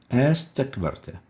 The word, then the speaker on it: أستكبرت: Another example, a istakbarta, we pronounce it astakbarta, astakbarta.